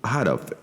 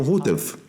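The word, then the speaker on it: Houteff: É isso, ele queria que o nome dele fosse pronunciado Hatoff. Alguns pronunciam Hutef, mas ele queria que o nome fosse pronunciado Hatoff.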